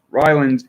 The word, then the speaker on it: Ryland: Ryland is the pronunciation according to the local dialect.